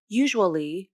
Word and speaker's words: usually: usually with the sound both words begin with the same sound the ya consonant the lips round for the oo vowel and they stay rounded as the tongue tip comes up slightly for the consonant here is when the